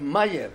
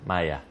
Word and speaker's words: Mayer: Ríos principalmente en Argentina es Mayer Mayer la Mayer bien castellanizado la pronunciación en alemán sería Maya Bueno tengo la duda tengo